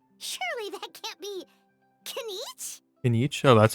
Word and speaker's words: Kinich: With We know Kinich. our Fontaine friends love a little drama. There's no way they let their readers down. Isn't that Charlotte? And standing next to her, surely that can't be Kinich? Kinich?